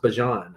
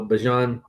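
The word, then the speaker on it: Bijan: Um and the guys I'm putting ahead of him are Bejon Gibbs and uh and apparently it's pronounced Bjon. I saw that he corrected some people this week. Um, so Bjon and uh and Gibbs and uh Genty, those are my top three.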